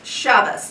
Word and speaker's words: Shabbos: 1, stop using the Sephardic Hebrew pronunciation that the Zionists foisted on us. From now on, it's Ashkenazis all the time, plus a little Yiddish. It means Shabbos instead of Shabbat.